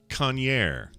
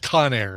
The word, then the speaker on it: Conair: guy's name is vincent conyer vincent conyer he invented the kanye hair dryer incorrect that would be incorrect i guess that's pronounced conair yeah yeah this may